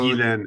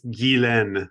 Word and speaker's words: Ghislaine: Guilaine. It's Guilaine. What? Guilaine.